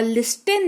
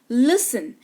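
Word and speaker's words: listen: टी के ठीक पहले एस लगा हुआ हो या एफ लगा हुआ हो तो टी साइलेंट होता है। क्लियर? ऑफन नहीं ऑफेन। सॉफ्टन नहीं सॉफ्टन और लिस्टेन नहीं लिसन।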